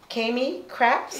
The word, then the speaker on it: Kami Krapps: Palm Beach with Miss Kami Krapps. Yes. Did I say it right that time? Yes, you got it right. With Miss Kami Krapps, like Krapsole, you Caribbean people, Krapsoles, you know what that is.